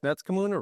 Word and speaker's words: Netskamuna: As I tell the BSD can planners, Netskamuna rhymes with tuna.